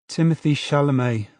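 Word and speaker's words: Timothée Chalamet: Timothy Shalomé.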